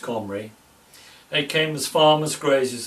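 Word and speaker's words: Cymry: king of samaria and celtic comrades still pronounced comri they came as farmers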